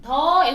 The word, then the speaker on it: the: 에 붙여서 오후에도 in the afternoon인데 더라는 단어는 A 앞에서는 D로 발음해주죠. 모음 앞에서는 D.